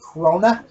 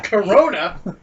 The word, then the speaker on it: Krona: It's pronounced Krona. Yeah. Corona?